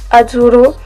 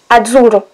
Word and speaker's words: Azzurro: Non, Azzurro. J'arrive jamais à mettre l'accent. Azzurro. Voilà. Donc il se dit comme ça, en italien.